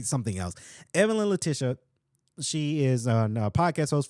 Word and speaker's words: Evelyn Letitia: I pronounce this right because I think I butchered it quite a few times. Evelyn Letitia. There it is. I don't know why I keep wanting to say something else. Evelyn Letitia.